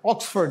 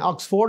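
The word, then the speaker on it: Oxford: वर्ड वास ऑक्सफ य ऑक्सफर्ड या ऑक्सफर्ड ऑक्सफोर्ड बहुत सारे हमारे लोग कहते हैं ऑक्सफोर्ड नहीं ऑक्सफर्ड ऑक्सफर्ड यूनिवर्सिटी एब्लिश इन 11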